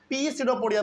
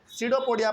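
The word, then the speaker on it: pseudopodia: बहुत लोग इसको पीसडोपोडिया पढ़ते हैं। नहीं इसमें पी साइलेंट होता है। केवल इसको क्या पढ़ेंगे? सडोपोडिया पढ़ेंगे।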